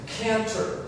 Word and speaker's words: trochanter: How do you pronounce this word? Canter, right? The CH is that K sound again.